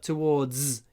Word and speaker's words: towards: Можно произносить с в конце, но это z, towards. И можно без этого. Towards, toward. Towards, toward. Неважно, можно и так, и так.